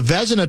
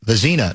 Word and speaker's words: Vezina: Although, in his translation, he called the Vezina Trophy, I think he had the accent on the wrong syllable. I think he called it the Vezina Trophy. Vezina? Yeah, or Vezina Trophy, whatever it was.